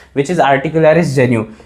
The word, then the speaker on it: genu: VM और यहाँ पर मैंने AG लिख दिया, आर्टिकुलरिस जेन्यू। अब आर्टिकुलरिस जेन्यू की स्पेलिंग भी लिख देता हूँ, अगर आपको प्रोनाउंसिएशन